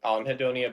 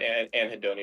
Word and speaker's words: anhedonia: the it pronunciation changes I I say on hedonia but anhedonia is correct too as far as I'm